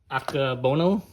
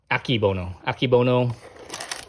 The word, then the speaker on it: Akebono: So I got some Akebono. I think that's how you pronounce it. Akebono.